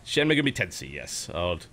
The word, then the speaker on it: Shin Megami Tensei: A bit of Shin Megami, I don't even know how you pronounce it. Shin Megami Tensei. Yep, you nailed it. That's exactly it.